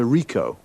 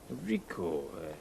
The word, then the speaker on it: Ricoh: a camera what make and model it's a ricoh ricoh how do you spell that r-i-c-o-h okay got that now you say